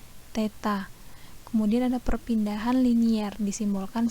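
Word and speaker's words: theta: seperti Huruf nol tapi ada garis tengah nah bacanya Teta kemudian ada perpindahan linear disimbolkan sama es Nah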